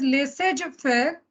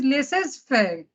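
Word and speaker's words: laissez-faire: pronunciations like it is leses fair which is actually a French word which is used frequently in English then next word of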